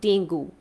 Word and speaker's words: dengue: here okay d-e-n-g-u-e that is pronounced incorrectly as dengue is pronounced correctly as dengue it's dengue another word